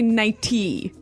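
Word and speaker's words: nightie: night you don't say nighty you say nighty yeah you you make the t a d nighty now she offered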